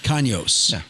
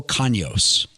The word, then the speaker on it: Canos: both how's your name supposed to be pronounced kanyos kanyos oh that's pretty good yeah i just know